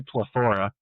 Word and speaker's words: PleTHorA: So actually no they they actually word oh okay so our band name uh we say plethora because we like to put the emposus on the wrong syllables but uh the